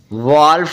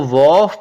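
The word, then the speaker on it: wolf: silent होता है जैसे डब्लू ओ एल एफ व वल्फ नहीं इसको पढ़ना इसको वफ पढ़ना व होता है बेड़िया क्लियर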